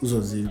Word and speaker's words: Uzozie: Am I pronouncing your name right? Uzozie. Okay. Actually, it's Uzozie. Uzozie. Yeah. Uzozie. Forget, you see, that was you. I didn't pronounce it, and you said yes. He's being nice. His name is Uzozie, not Uzozie.